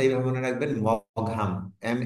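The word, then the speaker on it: Maugham: না অনেক সময় স্পেলিং এর মধ্যে আসে নামের বানানটা এভাবে মনে রাখবেন মহাম এম A Yuji H এম এম A Yuji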